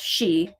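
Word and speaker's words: sídh: There's fairy mounds in Ireland and parts of I think England called she. It's SID. It's a weird spelling, but anyway, it's pronounced she.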